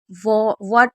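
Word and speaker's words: what: तो आप इसे हब नहीं पढ़ेंगे, इसे सिर्फ व पढ़ेंगे। जैसे वॉट हो गया या वॉट भी बोलते हैं, वैन हो गया, तो हम एच को साइलेंट रख रहे हैं क्योंकि डब्ल्यू एच के बाद ई है।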